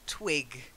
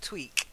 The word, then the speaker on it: twig: politely it's more polite and then twig not tweak tweak tweak are we twig big this voice not voiceless yeah so Twitter and then